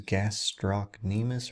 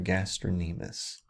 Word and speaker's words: gastrocnemius: Another name for this is gastrocnemius or gastronemus.